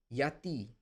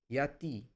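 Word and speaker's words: γιατί: Yati. Yati. Yati means why? See, if it is written gamma at the start, it is not pronounced like ga ga, it is like ya.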